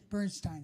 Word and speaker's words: Bernstein: that I remembered uh like for instance Leonard Bernstein how do you pronounce his last name Bernstein sorry thank you Leonard Bernstein um uh somewhere